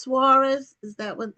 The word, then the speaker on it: Suarez: So, um, is your last name pronounced Suarez? Is that what how it's pronounced? Yeah, the very sophisticated, high class, well educated folks say Suarez, but most common folk just say Sores.